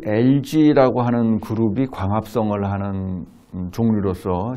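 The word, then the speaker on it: algae: LG라고 부르고 유럽에서는 알기라고 읽는 나라들도 있어요. 알기라고 읽는 나라도 있고 영어에서는 대부분 LG라고 읽습니다.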